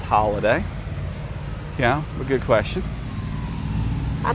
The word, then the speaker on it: Holladay: Is it pronounced holiday or holiday? Probably holiday. It's HOLLADAY. So probably still pronounced holiday.